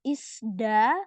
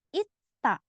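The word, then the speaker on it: 있다: Nah, dia bukan dibaca isda, bukan. Di sini dia dibaca huruf T, ketemu sama diget, dibaca T juga karena bacim ketemu ini. Jadinya bacanya ita.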